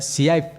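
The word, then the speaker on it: צעיף: Este velo, hermanos, en hebreo se pronuncia siaif.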